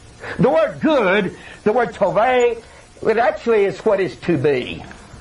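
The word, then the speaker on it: טוב: particular word, the word tove, and it's pronounced T-O-V-E, or tov, or tove. That's what it's pronounced.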